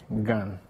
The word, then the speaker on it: Gane: I prefer to pronounce it Gane.